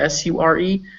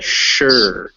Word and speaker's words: sure: you say sure s it's spelled s-u-r-e but it's pronounced with that shh sound so it's a sure it's similar to shore